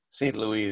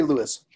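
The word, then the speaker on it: St. Louis: all right that's cool is it st louis or saint louis saint louis they call it okay oh oh thank you i always say lewis yeah it's probably yeah they pronounce it saint louis but they pronounce lots of french words weird i'm just be right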